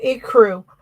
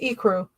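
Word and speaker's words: ecru: Oh, a crew. Yes. Not a crew. It's e crew and alabaster.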